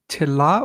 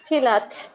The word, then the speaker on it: Tilat: We've got we haven't had any girls yet, so we'll go to Tila, or is it Tilat? I don't know how to pronounce that. It's Tilat.